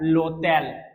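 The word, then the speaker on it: l'hôtel: alphabet में बोला था एच प्रोनाउंस नहीं होता तो एच के बाद जो अल्फाबेट है व य होगा तो ये एक साथ हो जाएगा लो तेल आप एक्सेंट वाले क्लास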